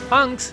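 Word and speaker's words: Hunx: Hunks, spelled with an X instead of KACE, and whose real name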